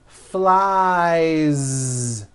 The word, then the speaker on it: flies: Next is the verb fly, which ends in the vowel sound I. So you've got I fly, he flies. Keep that ending voiced. Flies.